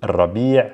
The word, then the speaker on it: الربيع: And then after that, we have fasl al-rabi', spring, al-rabi' versus al-rabi'. Similar, very similar, it's just the a versus the e.